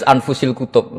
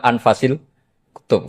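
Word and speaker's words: أنفس الكتب: Di sini ditulis anfusil kutub. selalu saya baca anfasil kutub karena maknanya kitab ter baik. Kalau kitab terbaik bacanya bukan anfus tapi apa? Anfas.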